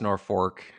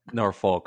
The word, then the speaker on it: Norfolk: Do you pronounce it Norfolk? Oh, yeah. I'm not from Nebraska. If you're local, it's Norfolk. Norfolk. But if you're not, Norfolk. So we accept that as well.